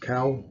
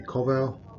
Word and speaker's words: Kowal: um it was interesting my last name I pronounced cal It's supposed to be Koval and it was interesting